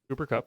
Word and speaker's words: Cooper Kupp: Cooper Kupp.